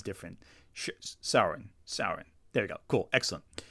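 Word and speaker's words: Syaoran: Yeah, I was just gonna say with that one, I was just correcting you on the fact that it was Sauron for the pronunciation of the name, and it was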